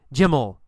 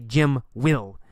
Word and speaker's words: Jim'll: We say ol. Jim'll. Jim'll. The man'll challenge him. Jim'll fight him. We don't say Jim will. We say Jim'll.